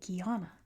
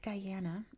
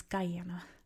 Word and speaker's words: Guyana: I didn't know it was Guyana. It's pronounced Guyana. That's how they say it. Um Gana is the French pronunciation.